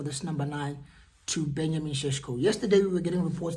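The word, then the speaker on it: Šeško: I'm being told that's how it's pronounced. It's not Cesco. Apparently, it's Shesho.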